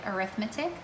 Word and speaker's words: arithmetic: And I know this word sounds or looks like arithmetic, and you're right, it is spelled the same way, but when we talk about it in a descriptive way, describing our sequence, we pronounce it as arithmetic sequence.